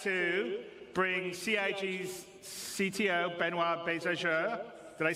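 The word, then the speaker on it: Benoit Beaufour: Without me waffling on, I'd like to bring CIG's CTO, Benoit Bézageur.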